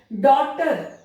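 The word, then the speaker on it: daughter: डॉटर, कितना common word है, कभी सोचा कि ये जी कहां गया डॉटर में? क्योंकि इसके पहले एक वाउल साउंड है, दैट्स व्हाई जो जी एच साउंड है वो डॉटर में नहीं है।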